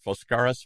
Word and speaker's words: Foskaris: Penny owns a place called, Foskaris Wellness.